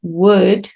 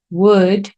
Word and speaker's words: would: Luego vamos con otro auxiliar que es wood. Esto se pronuncia como madera.